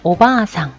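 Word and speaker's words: おばあさん: 자, 오바아상 마찬가지였죠. 오바아상 길게 하면 길게 했을 때 할머니, 짧게 하면 오바상이라고 하면 아줌마, 숙모, 이모 뭐 이런 게 된다 그랬죠.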